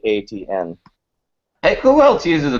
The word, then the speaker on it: ATN: And it's not spelling my name out. It's literally it's phonetically ATN.